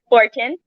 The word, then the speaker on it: Forchione: back to sheblab's podcast today's guest is paul forten that i pronounce it right you did so um can